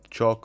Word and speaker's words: CHoCH: going to look at chalk or koch whatever you want to call it but i think it's pronounced chalk and it stands for